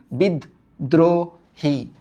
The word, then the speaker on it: বিদ্রোহী: আমরা ফার্স্টে বলছি বিদ, এই যে যেহেতু উচ্চারণ আটকে গেছে একটা হসান্ত দিছি বিদ। তারপর বলছি দ্রো, দ্রো, হ্যাঁ রো না কিন্তু দ্রো, বিদ্রো। তারপর কি উচ্চারণ করছি? হি, বিদ্রোহী। তার মানে এটা বদ্ধ, তাই